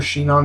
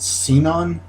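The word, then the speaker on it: Sinon: her I call her she known because uh that's how they pronounce it in the Japanese anime when I was watching it in English they pronounce it seen on and I like she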